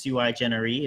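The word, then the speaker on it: sui generis: So that's SuiJeneris is really the pronunciation in Latin.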